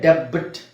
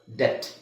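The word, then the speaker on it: debt: ಬಿ ನ silent ಮಾಡಬಹುದು ಇದನ್ನ ಡೆಬಿಟ್ ಅಂತ ಹೇಳಲ್ಲ ಡೆಟ್ ಸೋಬಿ ಇಸ್ ಸೈಲೆಂಟ್ ಹಾಗೆ ಇಲ್ಲಿ ಡೌಟ್ ನೀವೆಲ್ಲರೂ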